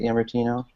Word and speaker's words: Yamartino: Is that how you say it, Yamartino? You there, Stuart? Yeah, that's good.